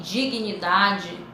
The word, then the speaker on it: dignidade: Então, dignidade. Então, esse aqui, dignidade, é um encontro consonatal separável, onde eles, você pronuncia o G, pronuncia o N, mas que eles ficam em sílabas diferentes.